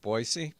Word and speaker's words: Boise: Yeah, Boise is the correct pronunciation.